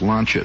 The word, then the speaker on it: Lancia: Maybe you pronounce it Lancia, but it's pronounced Launchia there.